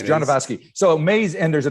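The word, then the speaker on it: Jodorowsky: jordan ski or whatever how do you pronounce his name do you know genovaski yeah it's john devasky so amaze and there's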